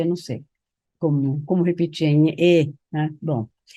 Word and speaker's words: ñe'ẽ: a palavra, que é nhe, não se pronuncia assim, é mais anasalada, que eu não sei como repetir, nhe, né?